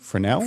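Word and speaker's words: Fresnel: Frenel frenel.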